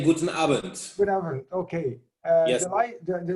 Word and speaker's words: Guten Abend: In Germany, we say Guten Abend.